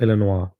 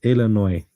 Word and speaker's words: Illinois: It's not Illinois.